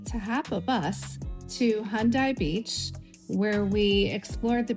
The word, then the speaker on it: Haeundae: The name is Haeundae Beach, and it's a similar like Hyundai car.